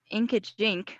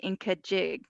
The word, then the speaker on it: Inkajig: But it's called, so I was pronouncing it wrong because I've heard it, but I was thinking it was Inkajink, but it's actually Inkajig.